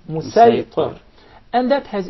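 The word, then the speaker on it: مصيطر: with a specific dialect, the sad will be deliberately pronounced as seen. For example, when we say Musaytar, we'll recite it as Musaytar.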